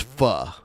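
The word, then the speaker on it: phở: it's spelled p h it's spelled p h o but it's pronounced fu yeah yeah hell yeah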